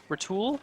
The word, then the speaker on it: Roule: rolling down the road from roule rul rul the e is silent from rul to thle